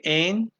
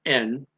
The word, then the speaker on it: en: Okay, een. Excuse me, I mispronounced that. N, not een. N means and. Like I'm going to say and, but I'm putting the D off, so it's just and.